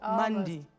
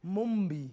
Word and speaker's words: Mumbi: Almost, yes. Almost. Mundi. Mumbi. Mumbi. Yes, there we go.